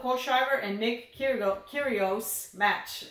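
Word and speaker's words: Kyrgios: and Nick here no kurios match I have to keep reminding myself the G is silent hi here Arvest how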